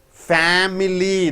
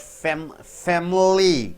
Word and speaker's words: family: Family. This I squeezed out. Family. Family. This a sounds like a good sound. A family.